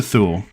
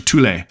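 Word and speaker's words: Thule: didn't all right from here let's head to THU sorry to tulle as I recently discovered it is pronounced if it's named after the play It's pronounced tulle not th um just because I know it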